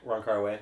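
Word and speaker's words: Wong Kar-wai: How do you pronounce the name? Ron Kar-wai? Ron Kar-wai, yeah.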